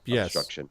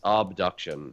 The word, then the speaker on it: Obduction: game uh uh uh obstruction not obstruction AB abusion abduction abduction yes yes obduction with an O uh which is actually